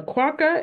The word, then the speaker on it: quokka: A quokka is pronounced quokka.